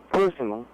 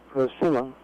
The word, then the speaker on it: persimmon: the persimmon last time i pronounced personally we should be pronounced persimmon right and i took